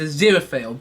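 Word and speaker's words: Aziraphale: then I just realized it is it's a zero fail that's how you pronounce his name finally Glory anyway back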